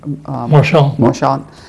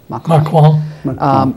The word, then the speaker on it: Macron: Marchand. I did not do well in French school. Macron.